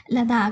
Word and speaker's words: लद्दाख: लद्दाख है, सॉरी लद्दाख है, मैं हमेशा इसको गलत प्रोनाउंस करती हूँ, लद्दाख.